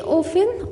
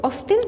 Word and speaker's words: often: She often or often بنطقها often او often الاتنين صح.